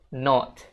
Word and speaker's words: not: Untuk British English, not itu bakal dibaca not. Not gitu guys. Jadi O-nya bulat. Kalau di American English mereka bilangnya not gitu.